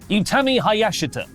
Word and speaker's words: Utami Hayashishita: Julia, Mai Sakurai, Mirai, Yuzuki, and SB3's actually written this down for me phonetically after I butchered it on Friday's episode. Utami Hayashita, Sakurai, Mirai, and Yuzuki will all finish up